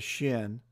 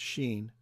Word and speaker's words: shin: the Hebrew alphabet there's a letter in the Hebrew alphabet called the shin or they pronounce it's Sheen and it looks like